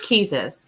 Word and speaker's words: Keezus: It's Keezus because it's Jesus just with a K.